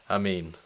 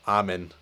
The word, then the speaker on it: Amin: influencer marketing entrepreneur Suhit Amin. And I'm very sorry to Suhit that I kept saying Suhit Amin or Amin, but it's Amin.